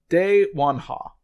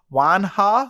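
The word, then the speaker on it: Dae Wonha: at the wrong one it's de juan ha so d-a-e space w-o-n-h-a you would not realize that's her that's how you're actually supposed to say the name because uh they misspell it multiple times throughout the adventure as wang ha so there's a g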